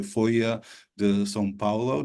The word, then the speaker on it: Folha de S.Paulo: I'm going to try to get the pronunciation right. Folha de S.Paulo.